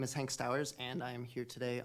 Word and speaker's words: Stowers: you mr smith uh mr stowers am i pronouncing that correct perfect yeah thank you welcome um good afternoon commissioners and chair my name is hank stowers and i am here